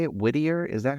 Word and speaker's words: Whittier: Whittier? Is that how? Yeah, What? I'm out in Whittier, California right now.